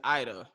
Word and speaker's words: Ida: I always pronounce her name Ada, but it's Ida. It's Ida.